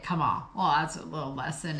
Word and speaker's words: Kemal: As the circumflex accent on the final softens the E, the pronunciation closely approximates that of the Arabic Kemal.